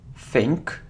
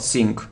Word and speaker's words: think: it's Dharma Dharma it's you know think think not not sink not sink think okay so you see